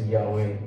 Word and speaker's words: Yahweh: even say it and they spelled it YH wh and then it ended up being pronounced Yahweh and uh and I